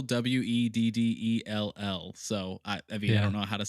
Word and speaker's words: Weddell: It's Weddell, Weddell.